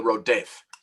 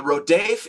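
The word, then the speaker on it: rodef: rodaf r-o-d-e-f in uh if i had to spell it phonetically the rhodef the rodave is a category in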